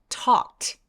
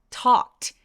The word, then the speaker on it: talked: 보세요 어때요 자 얘 talked talked 하면서 저 L 발음은 안 해요 그냥 talked 길게 해서